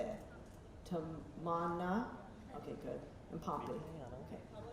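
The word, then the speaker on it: Tamannaah: Tamana.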